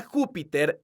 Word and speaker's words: Júpiter: se acentúan ejemplo un la palabra Júpiter es una palabra esdrújula porque su sílaba tónica es la sílaba Ju entonces tiene un acento